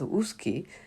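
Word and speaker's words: OOSCY: are out of school children and youth pronounced as escy based on the recommendation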